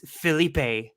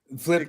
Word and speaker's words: Felipe: Like I'd love to see her be like, if you're gonna be charitable to Flip, at least pronounce his name right. It's Felipe. Flip. You just did it wrong.